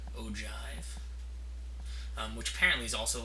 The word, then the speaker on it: ogive: look like o and I might as well spell it for you o Jive um which apparently is